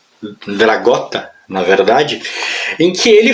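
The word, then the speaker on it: Dragotta: E logo na abertura há uma matéria aqui, ó, que foi escrita pelo Nick Dracota, Dragota, na verdade, em que ele fala exatamente isso.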